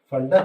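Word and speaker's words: Pfund: Fund series, P is silent.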